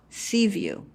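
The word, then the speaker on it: CVUU: coastal virginia unitarian universalist so they call themselves sea view which is kind of a play on word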